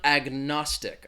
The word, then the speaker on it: agnostic: had was this one agnostic I'm throwing it again in here in the chat it has three syllables the stress is on that second syllable agnostic agnostic and I think when